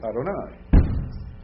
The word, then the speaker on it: Adonai: pronounce it right so when you reading Hebrew and you come to the Divine name you say know you ever say Yahweh around Jewish people you'll offend the living tar out of them especially if you're reading Bible when you say that so you will always practice when you're reading Hebrew and come to that word you will say Adonai now do I say